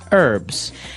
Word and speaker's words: herbs: Actually, you can say herbs. It's a very British thing to do, though. Americans and Canadians say herbs. It has an H in the front. That's why it's confusing. Okay, so we can accept basically if somebody says herbs, but I guess in American English it's more commonly pronounced as a silent H.